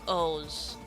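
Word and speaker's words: OOO: It's pronounced like O's.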